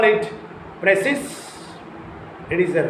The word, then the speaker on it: precis: Similarly, precis, P-R-E-C-I-S, precis, not precis. It is a French word, remember it. And if you call it a precis, it is right. And if you call it precis, it is a wrong word.